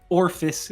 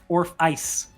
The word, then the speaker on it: Orphice: Selec's last name is not pronounced Orphis, it's pronounced Orphice.